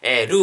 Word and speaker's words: 呂: すよね、ローと書きまして、ルーって読むんですね、昔ね同じ感じでローって呼ん